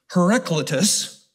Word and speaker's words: Heraclitus: Heraclitus was a 6th century BC, before Christ, philosopher.